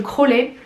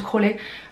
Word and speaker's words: Crosley: C'est une platine, pardon, de la marque Crowley. Ça s'écrit Crosley, mais je crois que ça se prononce Crowley.